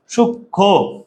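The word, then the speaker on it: সূক্ষ্ম: সাথে যদি ম ফলা আসে তাইলে ম ফলার উচ্চারণ হয় না সূক্ষ সূক্ষ এইযে ভাইয়া এই ম ফলাটার উচ্চারণ এইযে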